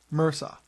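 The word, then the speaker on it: MRSA: orus or Mr RSA which in health lingo is pronounced Mera um another one is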